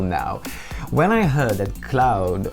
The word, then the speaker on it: Claude: how to pronounce it his name in uh the Netherlands because obviously it's cloud from the French but um he sometimes calls himself cloud like a more Dutch kind of pronunciation so forgive me if I use them interchangeably that's how it works in